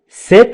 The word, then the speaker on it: cet: إذن prenez cet ascenseur وتقرأ سي، ولكن لأنها التقت مع أنا نقول cet ascenseur.